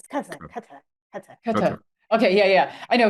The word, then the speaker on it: Qatar: Just say Qatar. It's Qatar.